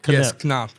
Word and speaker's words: Knapp: When I first saw the name, I'm like, it's NAP. And then uh your marketing manager did correct me a few times. I'm like, Kap. Okay. That's Yeah. Yeah. It's in German. In German, that's why.